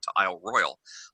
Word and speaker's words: Isle Royale: trip i made to isle royal isle royale pronounced that way even though it is clearly spelled royale but whatever welcome to